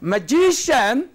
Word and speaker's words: magician: Then you have got words ending in ous, preceding syllable. And cian. Say, magician.